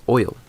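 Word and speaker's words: oyl: okay so over here we have oil that's how I pronounce it as oil okay so oil means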